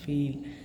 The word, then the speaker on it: viel: So the word, this word pronunciation I have written so that I don't forget, as it pronounced like in the English as feel, just like if the word feel in English, the VIEL in German, FIEL, VIEL in German sounds like.